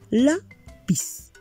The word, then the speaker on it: lápiz: La tiene tilde en la A porque termina en consonante C.